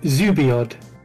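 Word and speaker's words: xubiod: x e b i o d yes uh zubiod you oh how did you pronounce it cuboid that's not bullied you boy boy is o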